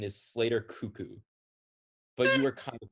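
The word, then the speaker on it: Koekkoek: don't know how to say this name slater cocaine that's close the correct pronunciation is slater cuckoo but you were kind of close okay the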